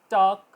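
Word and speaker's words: talk: silent letter पर example टॉक क टॉक ठीक है के से पहले ल आएगा तो ल नहीं बोला जाएगा आवाज आएगी वॉक वॉक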